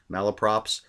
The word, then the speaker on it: malapropisms: are a lot of malapropisms that's how you pronounce it malla props which is when somebody